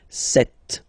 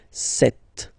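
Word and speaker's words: sept: Then here, remember, P is not pronounced. Okay, it doesn't exist, so you got this set sound. Set.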